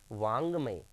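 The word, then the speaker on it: वाङ्मय: और इसका उच्चारण कहाँ से होता है बताइए? नाक से।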